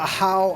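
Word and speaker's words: Ajaw: Wieso wird da Ajav geschrieben, aber Ahau ausgesprochen?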